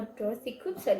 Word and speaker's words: Koomson: in kumson why do I keep saying her name wrong would I read more Dorothy kumson in the future I think there is I